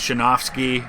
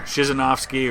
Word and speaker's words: Krzyzanowski: officer Chimel Fenig vladimir there's a lot of ways it gets pronounced but most often is basically sometimes chin off ski or shisn't off ski or Krzyzanowski it was said that